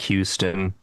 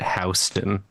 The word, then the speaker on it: Houston: There's a street in New York that's spelled like Houston, but we call it Houston.